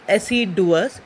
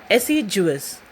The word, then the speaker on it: assiduous: Please note it's not assiduous, it's assiduous. Meaning of assiduous is to work very hard in taking care of each and every detail as properly as it can be. Right? So pronunciation is assiduous.